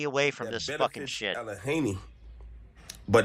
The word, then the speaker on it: Allegheny: How can nobody pronounce Allegheny?